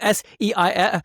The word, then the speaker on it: Seif: It is called SEIF Protocol for Surgical Extrusion. I love that because his name is Dr. Seif, right? Seif is spelled S-E-I-F.